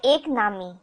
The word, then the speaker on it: एक नामी: You are not ek nami, meaning focused on one, rhyming with economy.